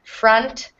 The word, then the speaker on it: front: um just to note this o has the same sound as the short u um so front and Punt and blunt should all rhyme okay one more time